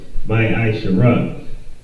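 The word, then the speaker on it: מעשר: Means tenth in the Hebrew, and is pronounced my Aisha.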